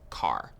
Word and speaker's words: char: covered integers what's next chars so chars are used for variables that will store single characters Char short for character and sometimes you might hear people pronounce it as car so characters always take